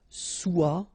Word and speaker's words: soit: Okay, then of course être and avoir, so être will become soit, remember final S is not pronounced, soit, then soyons, soyez, all